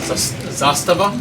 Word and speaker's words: Zastava: from um oh my God Serbia that's uh Zastava is the way they pronounce it I don't know what I mean